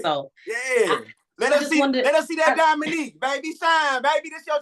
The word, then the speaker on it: Diamonique: Diamonique.